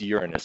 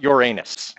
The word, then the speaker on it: Uranus: a top okay but yeah and it is pronounced Uranus by the way see a couple of you chuckling it's not your anus okay that's something else not a planet okay